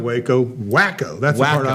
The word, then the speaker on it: Waco: decide Waco instead of wacko or Waco um I do not know but uh it's just a BRI you know a first letter off each letter of the name and uh they Pro pronounce it Walo probably up there they